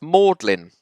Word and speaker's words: Magdalene: Then the colleges in Oxford and Cambridge, both spelt Magdalene, one with an E, one without an E, but they're both pronounced Magdalene.